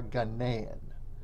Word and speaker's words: Ghanaian: If you are from Ghana, you are Ghanaian. That is the proper way to say it.